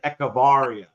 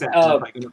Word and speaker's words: Echevarria: Oh, I know Kent always says roll your R's. You got to roll them R's. Okay, because see, I would look at it and want to say Echevarria. It's Echevarria.